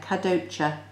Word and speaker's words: Kadocha: You can see I've written the phonetic pronunciation there. Kadocha.